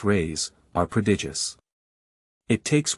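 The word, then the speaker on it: reis: the Portuguese pennies or Reese pronounced rays are pred ious it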